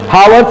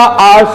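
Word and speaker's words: hours: Next पे हम लोग आते हैं, आवर्स आफ्टर आवर्स, ये भी वही है, हावर्स नहीं होता, आवर्स होता है। This is एच बी B silent, ठीक है।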